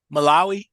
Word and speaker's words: Malawi: How you pronounce it again? Malawi, Malawi.